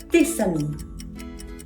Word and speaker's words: tes amis: Tes amis. Tes amis. Liaison, en effet, bravo.